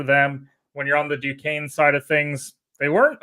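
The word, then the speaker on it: Duquesne: up canny correct me on this how you pronounce this 11 seed Duane Duane that's right I always want to put the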